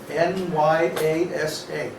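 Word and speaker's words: nyāsa: After you do your tilak and achaman, then it's called nyasa, N-Y-A-S-A, Oh, I spelled it right. nyasa, with two long A's.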